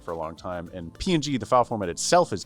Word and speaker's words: PNG: I mean, there is, I guess, still people saying ping versus PNG. I'm a PNG person, but I ping ping works, too. It's the same thing. There's no confusion of whether or not it's pronounced differently. though, and nobody cares.